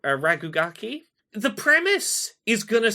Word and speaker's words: RKGK: I'm really digging um it's called rkgk I think it's pronounced raki the premise is going